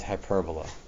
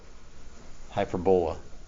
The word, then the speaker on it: hyperbola: that we'll talk about circle ellipse parabola and hyperbola hyperbola no hyperbola don't pronounce it wrong uh i know you've heard